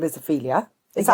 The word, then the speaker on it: Ophelia: It depends how you want to read it in the book, because sometimes I do catch myself going Opula. I'm like, no, that's not her name. Her name is Ophelia.